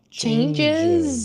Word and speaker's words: changes: Changes. Changes. Changes, right? So Changes. notice there's a huge difference. This is one syllable if it's in the past, Changed. changed. And here it's two syllables.